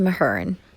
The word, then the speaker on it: Mahurin: The next book I purchased is Serpent and Dove by Shelby Mahurin. Yeah, no, it's pronounced Mahurin.